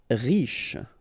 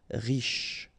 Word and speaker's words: riche: Riche. Final not really pronounced, so sh is the last sound. Riche.